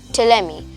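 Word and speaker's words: Ptolemy: d i u s Claudius TMI with a silent p p t o l e m y TMI claudus TMI in 150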